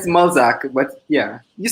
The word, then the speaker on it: Mulzac: So it's Mulzac, but yeah, you said it right actually.